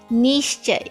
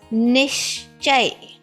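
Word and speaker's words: निश्चय: Sh is half. Ni is also half. So it is ni, not ni. It's not nishchay. No, it's nishchay.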